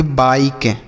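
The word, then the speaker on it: bike: किसी भी शब्द के लास्ट में ई लिखा रहे तो उसका उच्चारण नहीं किया जाता है। जैसे बी आई के ई, तो इसे हम पढ़ेंगे बाइक। क्या पढ़ेंगे बच्चों? बाइक। इसे बाइक के नहीं पढ़ेंगे, ऐसा बिल्कुल नहीं पढ़ेंगे, इसे हम पढ़ेंगे बाइक, ठीक।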